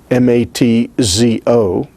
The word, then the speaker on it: matzo: out to you that sometimes the word matzah is written in different ways and is pronounced differently by different jewish people depending on where they're from whether they're ashkenazim or their sephardim sometimes i have seen matzah written m-a-t-z-o matzo but other times i